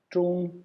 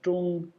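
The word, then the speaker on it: 中: This then is pronounced zhong with the first tone, zhong.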